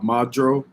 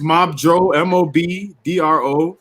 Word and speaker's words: Mobdro: a Fire Stick, there is an app called Modro on there that has all the. How do you spell it? Is it Mobdro? Is it Mobdro or Modro? Oh, it's Mobdro.